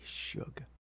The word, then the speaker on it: Shug: And then she's in Shug. Shug. Okay, Yeah, like sorry. short for sugar. Okay, I'm sorry. It's spelled. Anyways, it spelled looks like shrug without the R.